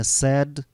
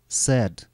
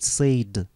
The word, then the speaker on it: said: Обратите внимание на произношение «said», «said». Это исключение. Не надо говорить «said». Это плохая ошибка. «Said», «said».